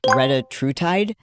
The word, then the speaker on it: retatrutide: It's called, hopefully I say it, everyone refers to it as Reta, but I think the proper pronunciation is Retatrutide.